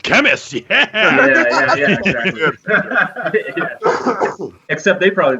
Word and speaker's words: Khemmis: And I always I kind of just liked how it looked, and I kind of liked how I pronounced it, which I think we call it Khemmis.